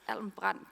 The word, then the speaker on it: Alm. Brand: It's not easy to pronounce. It's Almbrand Group.